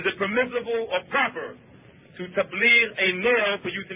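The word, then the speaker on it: تبليغ: We say tabligh. That's how Americans say it. The word is tabligh.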